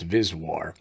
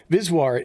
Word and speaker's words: VSWR: SWR standing wave ratio or vswr sometimes pronounced visual as a metric for evaluating antenna performance viswart is just SWR with